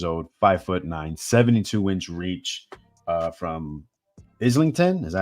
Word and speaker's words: Islington: We got John the Gorilla Ryder, 31 years old, 5'9", 72-inch reach, from Islington. Is that how you say that? My American pronunciation.